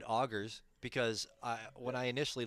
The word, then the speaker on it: Augurs: second language uh I I automatically went to the French pronunciation of UR was I was like no that's how it has to be said but no then you're like augers and I'm like I was right to begin with I can't believe it